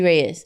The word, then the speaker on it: Reyez: Oh, you want to roll the R like a Latina? Yeah. The English way, Jessie Reyes.